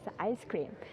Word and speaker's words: ISS CREAM: We spell it as ISS cream and pronounce it as ice cream.